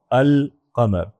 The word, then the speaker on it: القمر: اس بات کا تعلق ہے ال کے ساتھ۔ ال کا جو لام ہے یہ بھی کبھی بولتے ہیں کبھی نہیں بولتے۔ مثلا القمر جو ہے اس میں آپ دیکھیں لام میں بول رہا ہوں القمر، لیکن الشمس یہاں میں